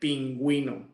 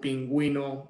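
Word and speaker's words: pingüino: be silent okay but they are going to be pronounced if they have the little dots they're called deesis in Spanish uh such as like pinguino okay so you pronounce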